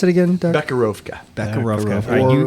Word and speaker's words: Becherovka: So How do you pronounce it again, Doug? Bekarovka.